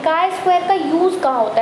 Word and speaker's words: chi: इन्होंने chi-square लिख दिया कि CHI से प्रोनाउंस हो रहा है ची, बट काय होता है, आप ची भी बोल सकते हैं, नो प्रॉब्लम। चलिए, बट हम इसको मानेंगे काय। ठीक है, इसको हम तो प्रोनाउंस करेंगे काय।